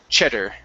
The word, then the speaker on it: cheddar: Okay, give me a good D sound instead of cheddar. Okay, using your tongue, placing it against your T like the Spanish D, it's ched. Ched.